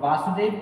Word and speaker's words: वसुदेव: श्लोक बोला था, वसुदेव, वसुदेव कृष्ण के पिता थे, और वासुदेव कृष्ण का पर्यायवाची है जो परीक्षा में पूछा जाता है। और इस श्लोक का उच्चारण करते समय ज़्यादातर लोग वासुदेव सुतम देव कंस चारुर्मर्दनम ऐसे बोलते